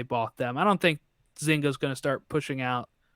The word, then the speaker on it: Zynga: Take Two Interactive bought Zynga. If I said that right, I don't know how to say it. That is correct. Zynga is the correct They are pronunciation.